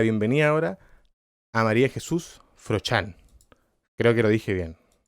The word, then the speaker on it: Froxán: Yo sé que en psicotemas hablaron de la pronunciación, pero ¿cómo es la pronunciación correcta? Es Jesús Froxán.